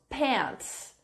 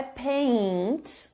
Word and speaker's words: pants: Marcos, pants. Não é paint, mas pants. Sem o i, sem o som do i.